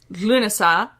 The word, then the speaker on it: Lughnasadh: It is pronounced Lughnasadh, and it is spelled much closer to that in modern Irish.